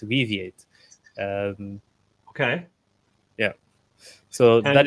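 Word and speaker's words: Weaviate: uh that's that's what we do also it's pronounced weate um okay yeah so that is uh that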